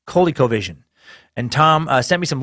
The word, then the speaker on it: ColecoVision: you're trying to say I sound I said Cole colecovision I do remember this from my childhood I had a friend who had one and yeah and they're pronounced coley-cole vision and Tom sent me